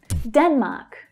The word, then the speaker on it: Denmark: Denmark, Denmark. The first syllable is stressed, it's the strongest.